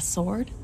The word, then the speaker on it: sword: Sword. Is that a sword? Yes, I know it's pronounced sword.